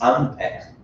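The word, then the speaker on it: Ampère: In Chinese, we pronounce it Ampere, but to my best knowledge, in French, it's Ampere. Okay, this R is F.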